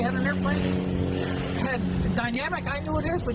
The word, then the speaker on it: Dynamic: Right up from them, we had an airplane that had dynamic, I knew it is, but you indicated that that was the wrong pronunciation of it? Well, in Europe they say dynamique, but you know, what do they know over there?